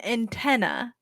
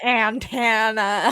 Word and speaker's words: antenna: radio reception yes an antenna antenna he used to say antenna like DNA anten like Montana antana still married then or